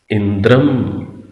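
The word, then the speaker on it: इन्द्रं: अब मंत्र के अंदर इन दोनों पदों के साथ ऊपर बिंदी लगी हुई है, तो उच्चारण क्या कर रहे हैं? अग्निम, इंद्रम।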